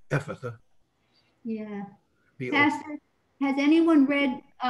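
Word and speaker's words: Ephphatha: Change the PHs to Fs and you'll never have trouble pronouncing it, except the accent is on the E, Ephatha.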